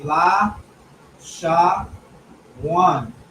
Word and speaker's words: Lashawan: out for you so you could pronounce it in the, you know, it be la sha one.